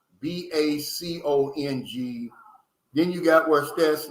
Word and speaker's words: Bacong: You got Bacon. I think I'm pronouncing that right. It's Bacong.